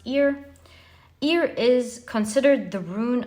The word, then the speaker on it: Ear: So it's pronounced ear.